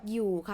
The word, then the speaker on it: อยู่: from my course ออ่างลีจอยักนะ you don't pronounce ออ่างนะคะ it's อยู่นะ not อะอยู่นะ just อยู่ but ออ่าง is here to change the tone rule to be middle class tone นะ so that's why